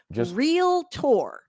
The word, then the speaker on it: realtor: It's not a realtor. I need everybody to do some phonetics and sound that word out. It is realtor.